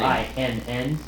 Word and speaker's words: Cinn: Cinn, C-I-N-N.